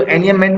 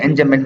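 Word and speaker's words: enjambment: बोलते हैं एनएम मेंट इसमें जो एनएम मेंट में जे है ना ये साइलेंट है ठीक है इसको एनएम मेंट पढ़ते हैं एन जमेंट नहीं पढ़ते ठीक है तो ये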